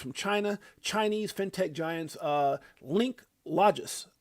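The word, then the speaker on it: Linklogis: Chinese fintech giants Link Logis, that's how you say it, Link Logis, is putting its $1 trillion supply chain finance platform on the XRP ledger.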